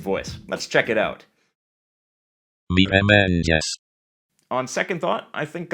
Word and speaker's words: mirëmëngjes: mëngjes, This letter represents a schwa sound, and you'll see this a lot in Albanian. But notice that it's reduced and almost not heard at the end of words. mirë, And notice that this digraph is pronounced as a palatal ja, similar to j,